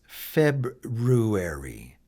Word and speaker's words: February: But a more common way today is to say February and just drop the R out altogether.